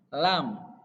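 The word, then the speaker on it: لام: Lam, lam, lam, lam. Jadi diucapkan dari lidah yang bagian atas yang mau menyentuh gigi seri bagian depan. La, lam.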